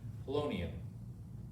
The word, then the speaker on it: polonium: so we look at our periodic table and we figure out what's 84 and that's oh i really need to get better pronouncing polonium colonial but with a p polonium and that is correct